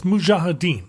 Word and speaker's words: Mujahideen: It's Mujahideen. The J is first, but I don't know if I'm saying it right.